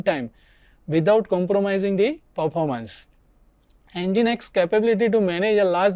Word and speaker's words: Nginx: It is popular open source web server, pronounced Nginx, is renowned for its excellent speed and little resource use.